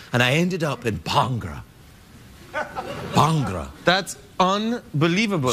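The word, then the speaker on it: bhangra: bangra I just got into it recently it's pronounced bangra not bangra bangra I I've got an accent so but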